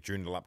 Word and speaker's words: Joondalup: first time and since i've known you you've pronounced the city of joondalup correctly yeah i think it was like joondalup